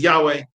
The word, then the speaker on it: Yahweh: by the name of we don't know exactly how it was pronounced. It's written uh Yu VH. So uh something like scholars usually call pronounce it as Yahweh.